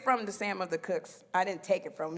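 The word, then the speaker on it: Cooke: i took it from the sam of the cooks i didn't take it from you know it's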